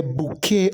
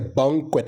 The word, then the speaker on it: bouquet: want to go first the correct pronunciation of that word is accessory accessory many people would pronounce it as accessory all